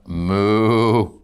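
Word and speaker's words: mu: Moo. I grew up on a farm. That's the sound of a cow.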